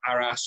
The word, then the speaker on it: Arras: look at the Battle of Arras this evening or Aris or depends how you pronounce this one and an interesting